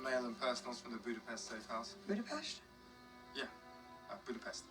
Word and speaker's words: Budapest: Some mail and personals from the Budapest safe house. Budapest? Yeah, Budapest. No, it's Budapest. Budapest. Budapest. Budapest. Yes, Natasha is using the Hungarian pronunciation, calling back her exchange with Hawkeye in Avengers.